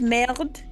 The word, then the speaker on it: merde: He said merde because in French, if there's an E on the end, you don't always. Actually, there is no E on the end, but you don't pronounce it.